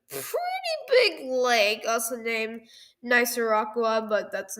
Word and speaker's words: Nicaragua: So, it's Nicer Rockera. That's not how you say it at all.